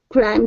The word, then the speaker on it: climb: or of via beer who watched from afar climb together to the top of the shelf.